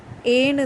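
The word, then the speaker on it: et: ஃப்ரெஞ்சில் ஏன்னு தான் ப்ரொனவுன்ஸ் பண்ணணும்.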